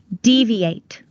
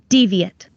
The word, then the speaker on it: deviate: When it is used as a verb, it's pronounced deviate. When it's used as a noun or an adjective, it's pronounced deviate.